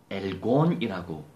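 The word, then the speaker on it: ἔργον: 자, 여기서 행위, words, 이 행위는요, 엘곤이라고 발음합니다.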